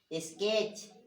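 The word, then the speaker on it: sketch: इसी प्रकार हैच, है ना, मैच, नोच, क्लच, इच, स्केच, स्विच। अब यहाँ पे देख लीजिए, इतने सारे वर्ड लिखे हैं, सारे में जो टी है वो क्या है? साइलेंट है।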